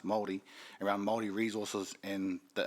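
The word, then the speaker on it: Māori: about um the weed was Mary but it's pronounced Maori around Maori resources in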